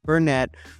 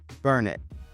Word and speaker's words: Burnet: are new to Texas we don't pronounce it Bern we pronounce it burn it and in burn it um giddens homes has